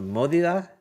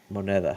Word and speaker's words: moneda: What is it's a modida? What's it No, called? modida? Moneda? Money? Yes. How do you say Moneda.